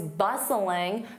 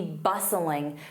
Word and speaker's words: bustling: You can see downtown is always bustling because of its waterfront. So, downtown is along the water. That would be quite beautiful. So notice I use to be bustling. Notice that t is silent.